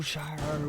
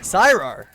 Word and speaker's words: Siro: such a close ankle Shiro will not sorry Siro I almost said it wrong will not jump out